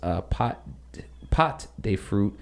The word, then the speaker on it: pâte de fruit: Pâté de fruit. Let me search it up real quick. It looks like it's just some type of chew. Texture, literally translated, pâté de fruit, pronounced pâte de fruit, means fruit paste.